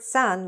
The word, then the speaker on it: son: This word "son", like son and daughter, sounds exactly like the word "sun" - the sun, the big sun in the sky.